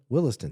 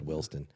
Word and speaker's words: Williston: there what is it Williston thank you I said willston Williston I mean they they